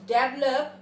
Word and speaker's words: develop: The correct pronunciation of the word is not develop but develop.